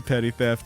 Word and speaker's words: Petty Theft: Shout out to Petty Theft. That is how it's pronounced. 2 P's at the beginning, 2 T's at the end.